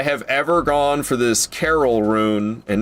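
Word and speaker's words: Caryll: This is the third time I have ever gone for this Carol rune. And not Carol Baskin rune, just Carol rune spelled with a Y and two L's.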